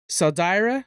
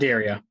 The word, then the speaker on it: Salderia: Okay, so I know his parents were killed by Saldira. Is that how you say it? What was it again? Salderia. Salderia. There it is.